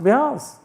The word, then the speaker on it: Beyaz: Beyaz.